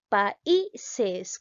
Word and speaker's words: países: Ahora pronunciamos países. ¿Cuál suena más, la A o la I? Países. Muy bien, la vocal I, por lo tanto, automáticamente la llego a tildar.